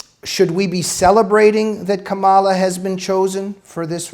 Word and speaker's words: Kamala: you can't if you don't say her name camilla harris and you say kamala harris or if you say camilla if you don't pronounce the name that they didn't want it